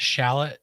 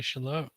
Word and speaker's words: Charlotte: Some people call it Shallot, North Carolina. It's actually Charlotte.